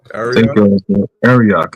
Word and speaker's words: Arioch: Ariok. Arioch, yeah.